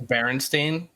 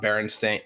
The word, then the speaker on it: Berenstain: Actually, it's Berenstain, not Berenstain. Stein's Berenstain.